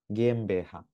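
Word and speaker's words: GmbH: এটা কি কিভাবে উচ্চারণ করে ভাই? মানে গেম বুঝতে বেহা। পারছি। গেম বেহা, ও আচ্ছা, এটা এই গে যে এম বে মানে হা।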